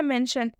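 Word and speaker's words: mention: ठीक है, देखिए पहला एग्जाम्पल क्या है, मेंशन, टी है, टी के बाद से ION है, इस आई का उच्चारण अ से हो जाएगा। श, आधा श प्लस अ क्या हो जाएगा, पूरा श हो जाएगा।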